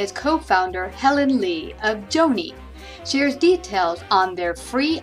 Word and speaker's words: JOANY: health care help for people out there called Joanie am I saying it right yes that's correct Joanie no T and it's a really a way